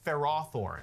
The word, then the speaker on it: Ferrothorn: 183 is Ferrothornne. That's the official pronunciation if you're wondering. I always call it Ferrathorn and then if you're commentating, you have to call it Ferrothorn.